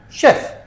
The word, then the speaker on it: chef: So they're spelled ch, but we pronounce them sh. Okay? Chef, chalet, machine, brochure, parachute, chaperone, chandelier, crochet, quiche.